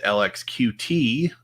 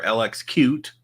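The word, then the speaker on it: LXQt: think is interesting is lx qt or lx cute depending on how you want to pronounce that um so yeah i'm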